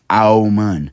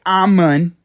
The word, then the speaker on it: Amun: Amun. Now, let's say it correctly. Let's not say Amun, right, because that's English. Let's not say Amen, because that's Greek. Let's say Amun. You know, the actual way